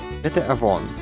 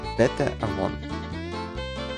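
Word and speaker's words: בתאבון: Pronounce bete avon. It translates directly to with appetite and is used the same way as bon appetit. Bete avon.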